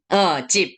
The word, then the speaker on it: 집: 집, benar ya, 집. berubah P gitu ya. Ini B tapi 받침 P, 집.